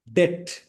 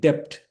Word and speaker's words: debt: Fifth one bonafide colleague debt not depth.